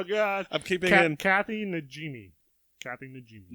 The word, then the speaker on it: Najimy: Kathy Najimy. Najimy. How do you spell that? Najimi. Najimy? Najimy. Okay. I thought you were saying like Nagini, like the snake from Harry Potter.